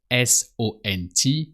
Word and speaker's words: sont: With they, if you want to say they are, the R of they are is sont. So S-O-N-T, but the T is silent. So you just say sont.